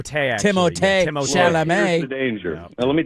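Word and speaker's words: Timothée: I am the first person to pronounce that T as hard as one could possibly pronounce a T.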